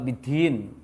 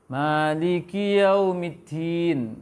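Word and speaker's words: يوم الدين: Kalau kesalahan Jawa di situ, bidin, medok. Ya. Di luar Jawa ada juga kesalahannya apa? Bidin. Di barat-baratkan baca dalnya. Di barat-baratkan. Maliki yaumiddin.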